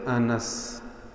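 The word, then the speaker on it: أنس: انس۔ یہ لفظ انس نہیں ہوتا، انس نہیں، عربی زبان میں اس کی تلفظ یوں ہے، نون پہ زبر، انس۔ سیدنا حضرت انس رضی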